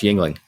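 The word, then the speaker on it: Yuengling: I've never heard someone say it yeah it's pronounced Yingling Yingling huh Yingling yeah I've been saying it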